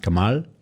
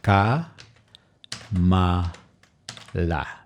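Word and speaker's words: કમલ: that directly into heat each one of those letters house pronounced in English that will be car ma Allah however if you put them together in Gujarati the end if it ends with an A it's never pronounced so that would becomes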